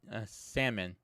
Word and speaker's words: salmon: I say salmon. See, I say salmon, right? But in this house, my lady insists that it's salmon, or yeah, actually pronouncing the L.